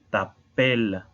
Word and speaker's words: t'appelles: La E es muda y también la S al final es muda. Por eso tenemos que reforzar el sonido de la E anterior con la doble L. Tu t'appelles.